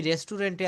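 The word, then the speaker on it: restaurant: আমি রেস্টুরেন্টে আছি। আম এট দা রেস্টুরেন্ট। আম এট দা রেস্টুরেন্ট। এটা রেস্টুরেন্ট। এটা আপনি কিন্তু সঠিক উচ্চারণটা হবে রেস্টরন্ট।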